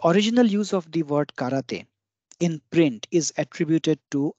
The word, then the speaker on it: 空手: this is in Japan both of which are pronounced the same that is karate to indicate that the